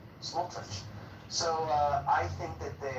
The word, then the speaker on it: Smotrich: Smotrich? Smotrich.